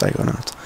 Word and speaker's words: Psychonauts: It's just Psychonauts.